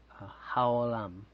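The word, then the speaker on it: העולם: Haolam, right? It's like that little laugh, ha ha, olam, ha ha, big joke, but it's haolam.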